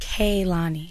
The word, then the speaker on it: Kehlani: It's very important that during this era of my life, I let everyone know that my name is pronounced Kani.